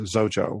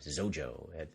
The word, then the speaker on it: Xojo: you know it Rhymes rhymes with Xerox and everyone knows how to say Xerox so yeah yeah it's